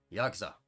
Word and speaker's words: yakuza: Don't be one of those guys. Yakuza. Yakuza. That's how you say it. Don't be like, Yakuza. Don't be doing that.